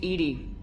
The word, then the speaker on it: EDI: the airlock is ajar why are you named ed ed is the phonetic pronunciation of Ed I that is an acronym